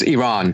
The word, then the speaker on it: Iran: How did I pronounce Iran? Is it Iran or Iran? I always say Iranian. It's Iran.